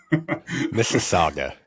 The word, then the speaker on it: Mississauga: We ended up getting a house, and I'm gonna pronounce it wrong, so keep me honest, Andrew. Mississauga, something like that. Mississauga, yeah.